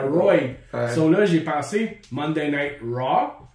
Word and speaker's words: Rawr: du monde oublie ça ro oublie ça c'est tout le temps ro là j'ai pensé Monday RA RA c'est comme roi c'est comme le plus proche que les anglais peuvent